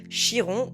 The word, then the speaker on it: Chiron: En astrologie, il existe un point hyper intéressant, un astéroïde qu'on appelle Chiron ou Chiron, peu importe comment vous le prononcez, le centaure guérisseur.